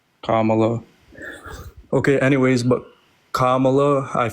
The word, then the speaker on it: Kamala: Can you give me 2 reasons why you're voting for Kamala?